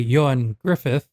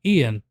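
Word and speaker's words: Ioan Gruffudd: Henry Morgan, played by Yoan Griffith, played by Yoan Griffith. And I have been mispronouncing his name this entire time. I've been calling him Ian.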